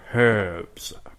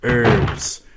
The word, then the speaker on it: herbs: Herbs. No, it's like Eddie Izzard says, you know. It's like, you pronounce herbs, we pronounce herbs, because there's a fucking H in it.